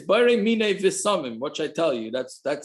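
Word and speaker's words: בשמים: And by Havdalah, it's not breira mine bisamim, it's breira mine visamim. The correct pronunciation for Havdalah is breira mine visamim, not bisamim.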